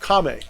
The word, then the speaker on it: kami: religion, where objects have kame, and those kame can, or kami, I guess is the better pronounce. Kame is stance and kami is spirit.